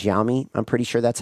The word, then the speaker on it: Xiaomi: We know that BYD, I forget how you pronounce this one. It's Xiaomi. Xiaomi. I think it's Xiaomi.